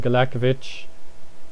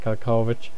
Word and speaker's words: Galekovic: Like, I pronounced his name wrong the whole time. I only realised when Emil Heskey clattered into him on this first day of the A-League season that his name is Galekovic, not Kalkovic.